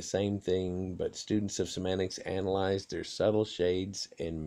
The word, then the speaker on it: semantics: meanings things like that to correctly pronounce semantics which is a singular noun even though it ends in s a send accent the second syllable semantics in the late 1800s